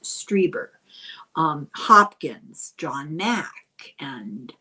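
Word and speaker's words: Strieber: Some say that uh he tapped into uh the twilight realm of grays as in Shriber and I'm sorry I pronounce his name wrong all the time. It's i.e. it's Striber um Hopkins John Mack and uh I believe David Jacobs.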